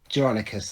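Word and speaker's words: Jeronicus: How do you pronounce Geronicus. it? Geronicus, they are.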